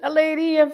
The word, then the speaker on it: Leiria: Finally, you pronounce it, Leiria, very well.